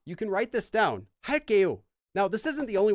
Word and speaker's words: 할게요: But a really common way to finish a sentence that uses this is 할게요. Notice that it's 게요, but it's pronounced as 게. 할게요. Due to sound change rules.